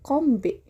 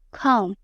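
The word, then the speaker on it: comb: Sama kayak kata komb ya. Aku dulu suka bilang kombe. Iya betul. Com dibacanya com terus ada lagi nih kata island.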